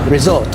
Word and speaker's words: risotto: So when we're talking about risotto, all right, or risotto, which is actually how it's pronounced, but nobody says that.